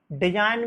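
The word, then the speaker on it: design: डिजाइन में आपका जी, डिजाइन की स्पेलिंग है DISIGN। डिजाइन मीन्स नमूना होता है, इसमें आपको जी को साइलेंट रखा गया है।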